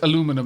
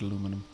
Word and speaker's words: aluminium: have any other aluminium oh sorry it's aluminum in this game it's spelled aluminum so I'm gonna say it aluminium yeah I'll have to